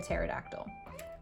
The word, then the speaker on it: pterodactyl: And when we do that backwards, it's SADME with a silent P, like a pterodactyl.